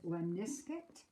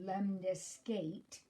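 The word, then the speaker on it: lemniscate: says draw a freehand lemniscut well again if you pronounce the word wrong if you say lemon escaped then you can see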